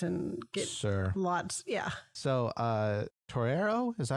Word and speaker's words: torero: So torero, is that how you say it? Pretty close. I would say torero.